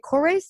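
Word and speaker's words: Korres: Is it Kores? Is that how they say it? Yes. So Kores is the number one Greek beauty brand.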